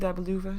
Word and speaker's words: Dabe Luvvaz: Yeah, I think Dabe Luvvaz is the right pronunciation.